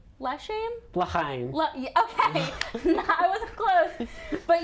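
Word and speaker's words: L'chaim: I'm gonna try not to butcher the name of the song. I think it's Lechaim? Lechaim? Lechaim.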